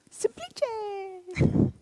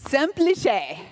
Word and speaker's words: semplice: Yes, we were saying it wrong. Semplice. Semplice. We have a real Italian here for support, so Semplice.